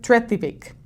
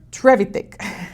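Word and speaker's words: Trevithick: Y el hombre que lo inventa se llama Richard Treivic, perdón, lo pronuncié mal. Richard Trevitic.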